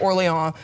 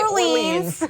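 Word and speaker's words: Orléans: Yes, because the French won the battle, so we're gonna pronounce it Orleans. We're not gonna say Orleans.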